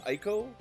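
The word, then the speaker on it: Eiko: We'll go with Iko or I'm pretty sure you pronounce it Iiko.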